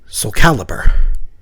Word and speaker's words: Soulcalibur: They called the game SOULCALIBUR, intending it to be a portmanteau of Soul and Excalibur. So, I guess if you're pronouncing it correctly, it's like SOULCALIBUR.